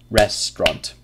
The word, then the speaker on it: restaurant: it is yeah and that's because many students try to read it slowly restaurant but the pronunciation is different than the spelling so of course when we speak it quickly just use restaurant two syllables secrex s secretary secretary